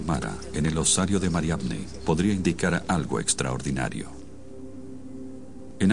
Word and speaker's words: Mariamne: era un apóstol en el movimiento cristiano más antiguo, entonces la designación de Mara en el osario de Mariamne podría indicar algo extraordinario.